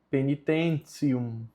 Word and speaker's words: penitentium: E aqui nós temos o T com I mais a vogal U, que fica tício. E com o final fica ticium. Então a pronúncia correta é penitentium.